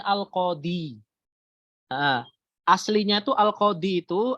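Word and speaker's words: القاضي: ini asalnya Al Qodiri tapi kita nggak bacanya al-qodiyu tapi kita bacanya Al qadi aslinya itu Al qadi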